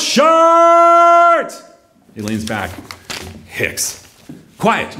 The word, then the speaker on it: Chartres: homemade sign that says don't say Chartres this ain't France the idiots around here Daniel leads his hand head out the window shows it's pronounced shirt he leans back Hicks